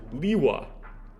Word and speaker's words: Lewa: issue with pronouncing it liwa though is that that's how an English a native English speaker would pronounce it right we say the e is a long vowel because there's only one